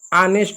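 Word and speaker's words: honest: ठीक है, जैसे देख सकते हैं, और हो गया, ऑनेस्ट हो गया, इसको ऑनेस्ट नहीं ऑनेस्ट पढ़ते हैं, इसको गोस्ट पढ़ेंगे।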